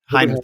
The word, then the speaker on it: Hainer: Am I pronouncing that right? He said, Hainer, thank you.